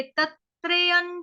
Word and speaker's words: तत्त्रयं: तस्मादे तत्त्रयं त्यजेत, तस्मादे तत्त्रयं त्यजेत, त्र त्रिशूल वाला। उसके बाद य के ऊपर जो अनुस्वार है उसका उच्चारण होगा आधा न, क्यों, क्योंकि त थ ध ध न, अगला शब्द जो आ